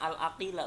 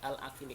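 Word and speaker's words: العاقل: Dibacanya al-aqila bukan al-aqili karena dia jadi naat dari lafaz zaidan.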